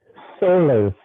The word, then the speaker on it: SOLAS: Let's remain technical here and briefly mention SOLAS. Is that the right pronunciation? SOLAS, the safety of life at sea.